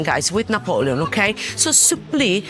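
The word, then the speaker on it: supplì: Look, s u double p l i with the accent on the eye.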